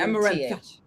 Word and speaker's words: amaranth: in Amaranth.